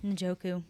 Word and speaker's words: Njoku: David David Njoku. Ninjoku.